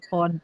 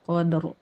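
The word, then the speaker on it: القدر: Cuman kita kalau dia baca salah kita ulangi misalnya fi lailatil qad dia bacanya gitu. Nah kita langsung fi lailatil qadr gitu kita sendiri ya baca gitu ya.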